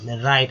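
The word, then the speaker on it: right: राइट IGHT को आइट बोलते हैं, अगर आर के साथ लगा तो राइट, एम के साथ लगता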